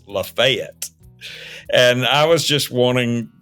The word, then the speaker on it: Lafayette: in the Revolutionary War is not Lafayette it's lafette and I was just